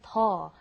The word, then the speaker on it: 더: And like Steven said, be careful with the pronunciation. You don't want to say it's a lot more difficult when you mean a lot less. The pronunciation is very similar. 덜 and 더.